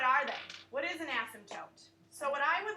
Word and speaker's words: asymptote: n asym PT OTE it's silent you don't pronounce it it's not asked him Toth it's an asymptote asked